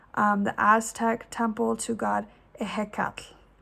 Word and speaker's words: Ehécatl: a mammoth, and I'm going to say this name wrong, the Aztec temple to god Ehécatl. Ehécatl.